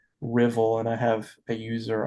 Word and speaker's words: Ruthwell: It's it looks like it's supposed to be pronounced Rothwell. R U T H W L, but it's actually pronounced Rivvel.